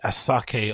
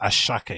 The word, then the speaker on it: Asake: events that preceded a asake or I think it's pronounced ashake if I'm not if